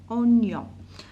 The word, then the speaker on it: oignon: Alors, un oignon, voilà, un oignon, donc on a GN, oignon, oignon.